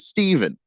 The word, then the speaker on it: Stephen: that where it's like that's a PH sound. Obviously, you pronounce it Stephen.